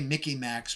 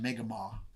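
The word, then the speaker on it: Mi'kmaq: They say Mickey Macs, but it's pronounced Megama.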